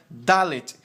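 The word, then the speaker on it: ד: letra desce o traço Então você tem a letra dalet que é referente ao nosso d e ele é transliterado na forma de um d na nossa língua também próxima letra é a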